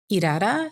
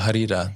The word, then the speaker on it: Harira: I think I saw a video where you're talking about Irara. Am I saying it right? Irara. Oh, Harira. Okay. Harira.